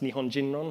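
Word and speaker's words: 日本人論: This translates, or it's pronounced Nihon Jinron, so basically theories about Japanese people or theories about Japaneseness, which was quite a popular strand of academia in the 70s.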